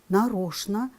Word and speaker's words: нарочно: Очень часто слова «конечно», «нарочно», «скучно» люди произносят с ЧН.